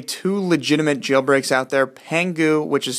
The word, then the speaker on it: Pangu: First off, I want you guys to know that there are only two legitimate jailbreaks out there, Pangu, which is spelled P-A-N-G-U, and Taig, T-A-I-G.